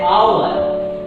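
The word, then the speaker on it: hour: गलत तरीके से पढ़कर हावर कहते हैं। दरअसल यहाँ पर H तो लिखा है, लेकिन H का ध्वनि साइलेंट मोड पर होकर के O से निकल रहा है, तो इसको पढ़ते हैं आवर।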